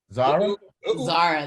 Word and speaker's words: Zahraa: And we have our fantastic guest, Zahraa? Zahraa, that's right.